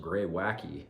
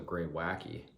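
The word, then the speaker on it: Greywacke: Oh shit, I just realized, just reading the back, it's pronounced Greywacky, so you pronounce that E as a Y, so Greywacky.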